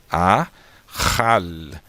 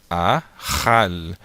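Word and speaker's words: אכל: Então, nós temos aqui a palavra, ó, eu não pronuncio o Aleph, eu pronuncio somente o A, depois o RR na garganta, né? Depois o A novamente, depois o L. Então fica Ahal, Ahal.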